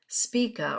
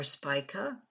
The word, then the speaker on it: Spica: Odin's day lavender lily-of-the-valley speaka or Spica depending on how you pronounce it Alda baron polaris agate